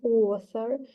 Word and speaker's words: author: Notice the O sound in author. The same sound is found in fortunes in line 11.